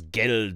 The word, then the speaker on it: Geld: do uh ashim says german for money is geld with a d not gelt with a t gelt means something else